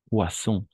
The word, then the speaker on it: poisson: Hay otra más, muy parecida, como le poison, vibrada. Poisson, poisson, sin vibración.